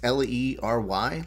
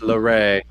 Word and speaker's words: Leray: It's Lery, Leary. Let's just say that. You are one share away from getting a toast on air. I see that you gave us a nice like. Appreciate that. Actually pronounced Leray.